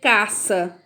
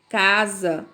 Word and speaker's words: casa: Então, você não vai dizer caça, você vai dizer casa.